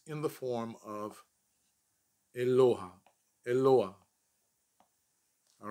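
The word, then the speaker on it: אלוה: hit or a hay whatever vowel is underneath it is pronounced first and then that last part eloah eloah now you can tell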